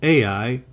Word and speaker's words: Ai: I as I explained in the last lesson I will opt for I as that is the way the locals who live in the region refer to the location now open the PowerPoint